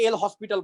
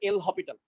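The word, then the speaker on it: L'Hôpital: ওকে, এটাকে অনেকে এল হসপিটাল বলে, বা আসলে এটা উচ্চারণ হবে এল হপিটাল।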